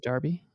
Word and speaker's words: Derby: You really say Derby is Darby? Is that? No, it's Derby is Another how you British say name?